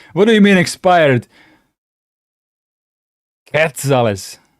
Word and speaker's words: quetzales: Is it Quetzales? That's how I would read it as Croatian, or is it Quetzale? I'm just trying to. Yeah, don't pronounce the U.